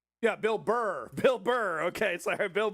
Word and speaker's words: Bill Burr: Yeah, not Bill Bar, right?